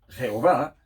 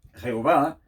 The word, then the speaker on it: Jehová: Entonces nosotros hemos puesto entre las consonantes unas vocales para poder pronunciar el nombre. Por eso hemos venido añadiendo las vocales con Jehová o con Yahvé, que